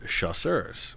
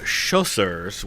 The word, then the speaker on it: chasseurs: C-H-A-S-S-E-U-R-S. Chasseurs. That's light infantry in French. I mean, it doesn't mean light infantry, but that's basically what it means. I kept calling them chausseurs, which are shoes in French.